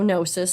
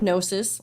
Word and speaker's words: Gnosis: just this week from gnosis freight so no cis spelled g-n-o-s-i-s the g is silent the definition of gnosis which i kind of